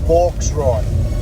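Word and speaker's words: bauxite: four try pork's right it's spelled v-a-u-x i t e it sounds like Hawk ride but it's box right that's how you spell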